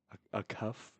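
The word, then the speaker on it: Acuff: And for Arkansas, it looks like Darius a cuff. A cuff, I believe is how you say it.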